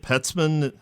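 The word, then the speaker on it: Peltzman: I read your book and that's the the pet ceman effect is that how you pronounce yes right so he's an economist at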